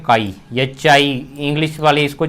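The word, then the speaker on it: χ: जाता है यह वाला इसको एक्शन नहीं पढ़ना इसको अपने पढेंगे कई इसको क्या पढेंगे कई पढेंगे यह क्या होता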